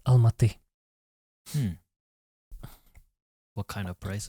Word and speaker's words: Alma: You can pronounce this L.